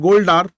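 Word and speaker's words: Goldar: N Gold are so maybe it is called gold r or gold R okay so for pronunciation so there can be a pronunciation error okay so ultimately the spelling is g o l d a r okay B N Gold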